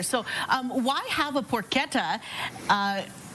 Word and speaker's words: porchetta: We got legal lamb, but also today we're featuring our porquetta. Yes. Yeah. So, I said it wrong. So, it's not porchetta, it's porquetta. Porquetta. Okay.